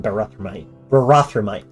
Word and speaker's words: Barathrumites: I pronounce them Barathrum and Barathrumites.